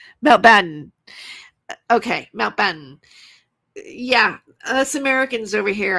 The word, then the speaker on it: Mountbatten: But apparently this is how you pronounce it. Mount Batten.